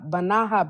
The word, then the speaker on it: banaha: With It's spelled pinto just like- beans and banaha bread. Not banana bread, banaha. Banaha bread.